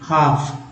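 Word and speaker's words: half: हाफ, हाफ यहाँ भी L silent है, हाफ नहीं पढ़ेंगे, हाफ। L क्या है? साइलेंट है। ऑफ यानी कि छिपा हुआ, लिखने में आएगा लेकिन बोलने में नहीं आएगा।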